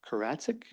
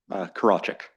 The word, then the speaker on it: Karachik: my list is Karatzik. Good try. I'm sorry. I'm really not, I'm over 6 or something here. Give me your pronunciation, please. Karachik.